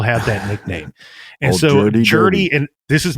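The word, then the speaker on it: Jerdy: And so Jody, and this is not me mispronouncing it.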